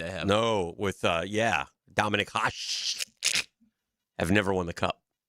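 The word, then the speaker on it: Hašek: Dominic Hash have never won the cup. What's his name? Dominic Hashik.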